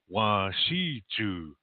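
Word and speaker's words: wasichu: So when you look at these Native American activists and they're saying English is wa shi chu, that's how they say it, yeah, wa shi chu.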